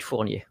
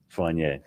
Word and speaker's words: Fournier: Give me the French pronunciation. David Fournier. Fournier.